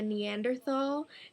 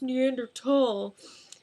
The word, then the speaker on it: Neanderthal: And at one point, Reagan calls Brendan a Neanderthal. And Brendan's like, actually, it's pronounced Neanderthal.